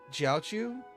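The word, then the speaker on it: Jiaoqiu: It's J I A because typically Q with Chinese names is more of a CH for us.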